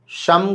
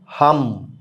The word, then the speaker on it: शम: बहुत सारे प्रदेशों में शम का उच्चारण लोग नहीं कर पाते थे। वहां श को ह कहा जाता है। बहुत सारे प्रदेश ऐसे हैं। वहां पर ओम हम इस मंत्र को भी कर सकते हैं आप ओम शम के बदले।